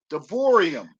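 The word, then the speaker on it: Devarim: to your bibles and deuteronomy as it's pronounced in hebrew davorium de boream chapter 11 verse 27 and 28.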